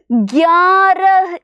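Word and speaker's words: ग्यारह: മക്കൾ ഒന്ന് ശ്രദ്ധിച്ചു കാണണേ ഗ എന്ന് പറയുന്ന അക്ഷരവും യ എന്ന് പറയുന്ന അക്ഷരവും കൂട്ടി യോജിപ്പിച്ചിട്ട് നമ്മൾ എന്താക്കിയേക്കാണ് ഗ്യാ എന്ന് പറയുന്ന അക്ഷരം ആക്കിയിട്ടുള്ളതാണ് അപ്പൊ ഇതെന്താ വായിക്കുന്നത് ഗ്യാര എന്നാണ് വായിക്കുന്നത് എന്താ വായിക്കുന്നത് ഗ്യാര ഗ്യാര എന്ന്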